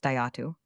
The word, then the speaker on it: Jatu: It is written jatu and pronounced datu.